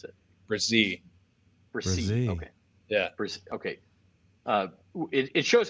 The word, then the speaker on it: Bresee: And by the way, Bresee is how we pronounce it? Bresee.